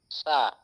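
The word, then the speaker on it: ث: সা সা শক্ত হবে না, সা।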